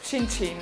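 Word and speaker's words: cin cin: with a nice Chi yeah in Italian it's chin chin and you have to always look each other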